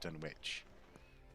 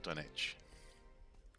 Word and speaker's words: Dunwich: that that's the that's the right way is to say done witch and not done itch okay saying i can